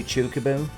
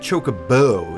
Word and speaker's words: Chocobo: There's no standard for the emphasis because Japanese doesn't have stressed syllables. So yeah, in Japanese it would just be Chocobo.